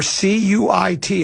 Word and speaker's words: Cuit: That's a hell of a list of um Smiley Tattoo Cuit or C U I T. How do you say that, do you know? Say that spell it again.